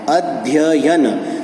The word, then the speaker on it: अध्ययन: इसी प्रकार से एक शब्द है अध्ययन, इसमें 2 बार य का उच्चारण है, अध्ययन।